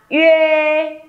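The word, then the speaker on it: ye: Chúng mình sẽ đọc là Yê, Yê, Yê. Nhớ nhé, âm này không phải là Ê, không phải là U, Ê, Ê, Ê, Ê, mà là Y, Y, Yê.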